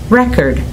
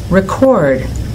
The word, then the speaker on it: record: did you notice that when the homograph is a noun the stress is on the first syllable record Rebel present when it's a verb the stress goes on the second syllable record Rebel present can you